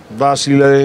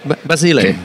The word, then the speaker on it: Basile: uh yeah what do you think of uh Basile or how do you pronounce his name basil Basile Basile yeah and he says total totally unpredictable